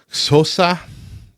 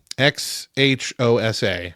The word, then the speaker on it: Xhosa: I'm going to butcher how it's pronounced, but I think it's Xhosa, Xhosa, for his role, which is spoken in the film.